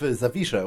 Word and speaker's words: Zawisza: easier to explain, because you could write it phonetically to an English speaker by putting a V here and SH in place of the sh, because that's the sound it makes, and it would be pretty seamless.